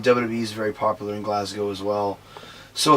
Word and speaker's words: Glasgow: It's not Glasgow. It's Glasgow.